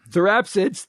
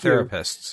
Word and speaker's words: therapsids: mammal like Jaw Anatomy Evolved first in therapsids therapid therapsids not therapists okay for doors that